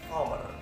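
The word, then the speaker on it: Four: 4 kita baca power. Kenapa power? Karena biar tidak ada kerancuan dalam pengucapan.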